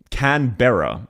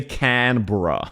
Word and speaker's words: Canberra: In the same way, we don't say Canberra, unless you're a wanker, which plenty of Aussies are. We say Canberra.